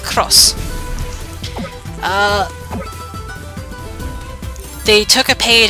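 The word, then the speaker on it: Xros: Uh the way they spelled it was XOS. That is quite literally X as in the letter X R O SS and it's pronounced cross.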